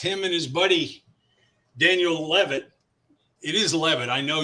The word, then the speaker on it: Levitt: moore's our guest him and his buddy daniel levitt it is levitt i know you know that i like to pronounce people's names right or is it lavette it's love it's levitt you got it love